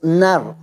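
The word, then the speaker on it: נער: decirte que es una palabra hebrea nada se pronuncia la palabra niño es nar qué significa lanzado de un lado a otro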